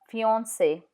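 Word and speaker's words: fiancé: For example, fiance. C in front of E is pronounced S. So fiance or mercy. Mercy.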